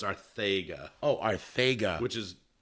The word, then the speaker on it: Arcega-Whiteside: Oh, Arcega. Which is how I would expect you to pronounce it incorrectly, but it's actually correctly.